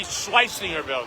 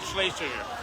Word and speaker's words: Schleisingerville: Tim is with the Schleisingerville Museum. Oh, yeah. Somebody was wondering if And you there's would Troy. get that pronunciation right. Well, if you stayed according to German, it would be Schleisingerville, not Schlesinger.